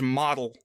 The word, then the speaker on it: Motel: But his name is Model, which is spelled like motel.